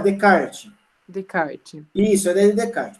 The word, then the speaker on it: Descartes: Isso, vamos pronunciar Descartes. Descartes.